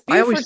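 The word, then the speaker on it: Beaufort: Is it Bowford or Buford? It's Buford, South Carolina.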